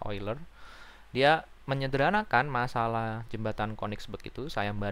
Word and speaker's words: Euler: oiler matematikawan terkenal ya eiler tulisannya euler Tapi bacanya oiler dia menyederhanakan masalah jembatan